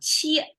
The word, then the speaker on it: 切: Qie, it may be difficult to pronounce because my American-born son couldn't pronounce this particular sound well. And I figure probably English doesn't have it. So qie, qie. Okay, that's how it's sound.